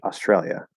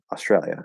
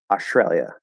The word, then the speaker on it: Australia: you can kind of just make it into an sh australia australia that's fine can i completely drop the s australia australia no that one does